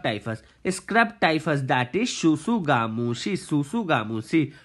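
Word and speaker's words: tsutsugamushi: Scrub typhus, that is Shusugamushi. Shusugamushi. T is silent here, guys.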